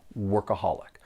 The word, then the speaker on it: workaholic: it's not too difficult there are four syllables and the stress is on that third syllable workaholic but let me let